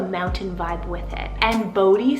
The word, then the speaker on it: Bodhi: And then another boy's name that is just near and dear to my heart right now is the name Bodhi Atlas. So it's spelled BODHI, and then Atlas, ATLAS.